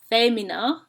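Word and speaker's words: fēmina: you see above vowels these are called macrons and they tell you that a vowel is long so this word is pronounced famina rather than femina the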